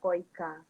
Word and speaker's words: KOICA: itu Korea International Cooperation agency disingkat koicha Tapi bacanya koica jadi koica itu udah